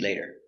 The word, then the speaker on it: later: can eat later later we have the t between two vowels we pronounce it like a d later later we can